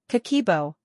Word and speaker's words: Kakeibo: Kakeibo, pronounced Kakeibo, is a Japanese budgeting journal that's been helping families manage money for over a century.